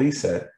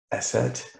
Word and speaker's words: ESET: about the company now eset as you can see on the screen it's not pronounced asset uh or e-s-e-t but some people will spell that out it's actually e-set and it translates into